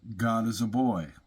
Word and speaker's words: Godesiabois: Um, after Glenn brought me on uh to Collective as a mod, he finally told me that you pronounce his last name. God is a boy.